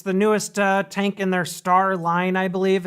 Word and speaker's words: Starre: newest tank in their star line i believe it's st AR re I've always said star I think that's how you pronounce it but not certain what